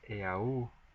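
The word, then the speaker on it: eau: Au it' be pronounced AA and that's the French word for water but now simply e Au is simply pronounced o and no longer the trift tong of a so just looking uh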